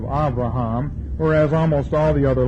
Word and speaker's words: Abraham: we pronounce everything wrong we say Abraham instead of avraham whereas almost all the